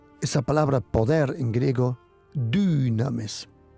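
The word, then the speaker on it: δύναμις: El poder viene, esa palabra poder en griego dunames. Se pronuncia como una u, pero no existe la u. Es una y du.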